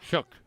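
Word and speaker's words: Shough: I don't know how you spell it. S H O U G H. Shook. Shook.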